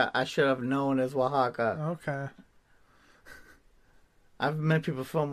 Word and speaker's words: Oaxaca: the city yes it's the city how's it pronounced um i'm sorry people i'm sorry i'm dummy oaxaca i should have known as oaxaca okay i've met people from oaxaca uh i